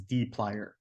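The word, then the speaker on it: dplyr: the storms data set which is in the D plier package so this is often pronounced this package is pronounced as D plier and so before we can access any of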